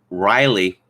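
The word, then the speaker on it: Rielle: was a woman called riley hunter it's spelled r-i-e-l-l-e but of course pronounced riley she was born as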